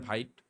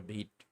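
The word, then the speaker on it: Vite: করবো সেটা হচ্ছে ভিট এইটার উচ্চারণ অনেকে করেন ভাইট আমিও করতাম ভাইট বাট এটা হচ্ছে আসলে উচ্চারণ হবে ভিট তো যাই হোক তো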